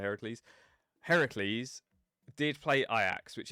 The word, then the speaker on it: Heracles: I call them Hercules instead of Heracles.